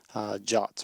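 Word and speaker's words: JWT: uses an OAuth or something called jots or JSON web tokens jason web tokens pronounced ja like the english word to write something quickly are meant to be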